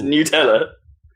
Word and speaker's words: Nutella: and thought, oh, that's how NU is always pronounced. Yeah, but new metal... It's Nutella.